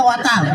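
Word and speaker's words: water: ওয়াটার না, এটা ওয়াটার। ওয়াটার। জি স্যার। জিহ্বার আগে সামনে দুই দাঁতের সাথে লাগবে।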